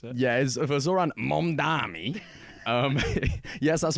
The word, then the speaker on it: Mamdani: It's been a great week for one Ambani. How does the great Andrew Cuomo pronounce it? Yeah, for Zoran Mamdani.